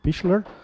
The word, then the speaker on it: Pichler: don't know Roman Pichler I've just learned today how to pronounce his name Michler I would definitely advise